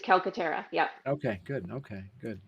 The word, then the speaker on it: Calcaterra: Calcaterra. Good. All right, good. All right. You had it right. It's Calcaterra.